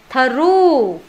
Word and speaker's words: through: Through là cầm gạch chân ngang, gạch chéo cái từ G H đó đi, nó bị cầm rồi. Đây, câm mỏ rồi. Không phát âm chữ GH đó.